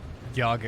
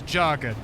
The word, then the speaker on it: Jagga: just doomed myself into having everybody call me Yaga instead of Jagga. And I'm gonna be really, really mad if you all call me Yaga. The correct pronunciation is Jagga.